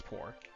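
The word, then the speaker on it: Porre: I think this is, yeah, it's Poor. So Poor, or Pore, or however you want to pronounce it. I usually just say Poor because that's how I'm used to pronouncing it.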